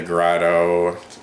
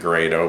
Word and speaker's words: Grado: Up until now, my primary budget audiophile headphone that I've recommended would be the Grotto. I guess a lot of people could pronounce it Grado, but anyway, the SR80E.